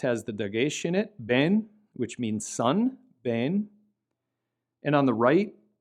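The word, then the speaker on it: בן: The one on the left has the dagesh in it, ben, which means son, ben. And on the right, it lacks the dagesh and this word is pronounced tov, tov, which means good. Ben, tov, ben, tov.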